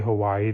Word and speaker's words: Hawaii: One, you are ignoring the okina in the word Hawaii, which is part of the Hawaiian language.